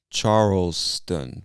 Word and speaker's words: Charleston: mountain state is charleston charleston like the name charles and then add tun to the end charleston charleston west virginia all